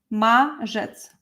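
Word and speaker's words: marzec: finally it will be mjets maets maets so this r with zed is uh pronounced as J maets March March after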